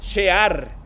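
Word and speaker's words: שאר: En hebreo se pronuncia shear y este quiere decir una embarradita, un poquitito ahí nada más de una nueva vida.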